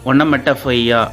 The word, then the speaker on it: onomatopoeia: ONOMATOPOEIA, ஒனோமெட்டஃபையா அப்படின்னு சொல்லுவாங்க. ஒனோமெட்டஃபையா ப்ரொனவுன்ஸ்டு ONOMETAPA, onomatopoeia is defined as a word which imitates the natural sound of the things.